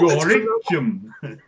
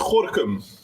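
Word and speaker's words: Gorinchem: Well, Gorichum. it's pronounced Gorkum.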